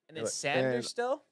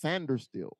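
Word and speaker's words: Sainristil: I was like okay how do you pronounce that sand still but it's pronounced sander still that's weird sand very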